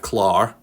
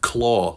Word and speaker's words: Clar: Glenn we got Jeff clar why do you say why do people say Jeff claw like um a Tigers claw it's clar okay oh we doing